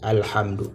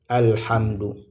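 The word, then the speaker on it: الحمد: Alhamdou, la lecture du mot c'est alhamd. Et vraiment ce qu'il faut être très attentif ici, c'est la lettre ha ici cette lettre là. OK, cette lettre là, il faut faire très attention ici. H alhamdu.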